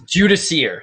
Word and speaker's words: Judiciar: kind of complex now how do you say the name actually first before we talk about the conversion it's Jud Deere so it's this this